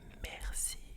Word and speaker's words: merci: Now the way we say that is mercy.